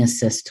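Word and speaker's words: ASST: people know it but assist is a-s-s-t and tell us what that stands for artists standing strong together and you pronounce it assist so we'll put that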